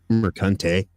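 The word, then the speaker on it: Mercante: that is you know Alysa Mar's pronounced marante uh like yeah this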